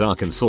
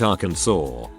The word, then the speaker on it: Arkansas: This has nothing to do with your post, but it's weird I read it as Arkansas when it should be pronounced Arkansas.